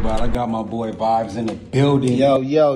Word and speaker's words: Vibez: gotta let yall know how it's spelled is v i b e z cuz you know everybody like to put that Y in it but nah it's Vibes uh yeah but um